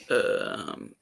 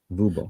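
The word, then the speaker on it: Wubbo: How would you pronounce his first name? Vubo. Vubo.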